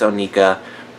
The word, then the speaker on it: Onika: To kind of sum it up, Nicki Minaj's Onika, there's so many ways to say her name, and I know that it's Onika, but it does not roll off the tongue